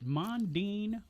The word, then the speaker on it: Mondin: Is it Mandine or Mandine? It's actually pronounced mandine.